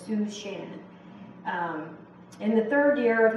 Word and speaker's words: Shushan: Now, some of your translations might say Suzanne, Shushan, and that's the way you actually pronounce the Susa, is Shushan.